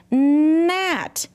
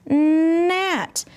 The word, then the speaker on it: gnat: So GN says N. Help me say it. GN says N. Good job. Like in the word gnat. You see how I read that? Gnat. The G didn't say anything, but the N made the sound.